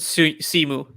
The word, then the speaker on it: Simu: Do you think Shimu or Shimi? I say pronounce it Simu.